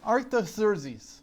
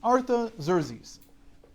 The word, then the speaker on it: Artaxerxes: They say it Artaxerxes. Oh, yeah, you saw this probably. It's a well-known thing. Even in the book of Nehemiah, we have his real name, Artaxerxes. That's how it's said in Hebrew, a transliterated Hebrew version of what the Persians called him, Artaxerxes. So it's Artaxerxes.